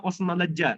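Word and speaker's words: Osmanlıca: Bahasa Turki Utsmaniyah itu bahasa Osmanleja istilahnya, Osman Lica tulisannya, tapi bacanya Osman Leja.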